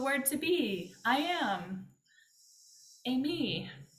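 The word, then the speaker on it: εἰμί: to be I am Amy like you say it like Amy like the woman's name I am Amy that's how you remember I am Amy except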